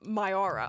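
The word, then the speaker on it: Mayura: Appropriate amount of R for somebody who's called Myara. Oh, it's it's spelled uh M A Y u R A, but yes.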